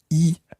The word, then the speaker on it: y: Anna, qu'est-ce que tu y as fait? Qu'est-ce que tu y as fait? Now, that E in there is a tiny little word. It's spelt Y, just Y on its own, and it means there.